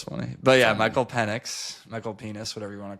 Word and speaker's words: Penix: watch Penix. Is that how you say it? Penis?